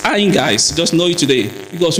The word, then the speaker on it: EMOGAS: AIMGAS, a lot of people pronounce it differently. Some people call it AIMGAS, or they want to say EIGAS. It's AIMGAS.